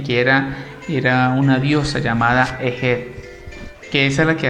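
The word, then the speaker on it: Heget: La rana representaba a la diosa Ejet, H-E-G-E-T, Ejet.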